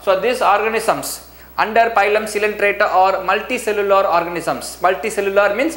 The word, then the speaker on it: Coelenterata: Next we move on to second phylum, phylum Coelenterata. Children, listen very carefully. The pronunciation is very different. The spelling is different, the pronunciation is different.